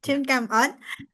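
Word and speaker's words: xin cảm ơn: Is it Xin Kam On? Xin Xin cảm Kam ơn. On? Yeah. Xin Kam On?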